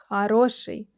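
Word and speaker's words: хороший: Don't forget about the unstressed "o" in the word "khoroshiy". "khoroshiy" And try pronouncing the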